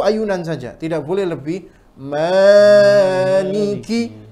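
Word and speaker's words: مالِكِ: saja tidak boleh lebih Maliki artinya di sini ada kesalahan beberapa membaca mana dibaca pendek boleh tidak kalau qiroat yang lain boleh seperti Imam waras bacanya pendek kemudian i imam yang lain ada yang baca pendek tapi tidak boleh riwayat Hafiz bacanya pendek harus bacanya panjang Maliki sama Maliki sebenarnya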